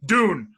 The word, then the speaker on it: Dune: Doom, right? The video game Doom. Not Doom. Dune.